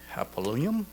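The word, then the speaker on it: Hapoalim: And one negotiable CD from Bank Hapolyum in New York.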